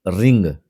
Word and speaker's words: wring: जैसे रिंग, WRING, रिंग। आर से पहले अगर डब्लू हो तो डब्लू साइलेंट होता है।